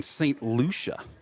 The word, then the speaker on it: St. Lucia: You might be in St. Lucia. Is that how you pronounce that?